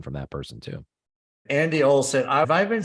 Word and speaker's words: Olen: Andy Olsen, have I been saying your name wrong?